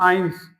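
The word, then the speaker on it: eins: को बोलते हैं हम आइंस्ट आपने एक साइंटिस्ट का नाम सुना होगा आइंस्टीन वैसे बिल्कुल आपको आइंस तक रुक जाना है।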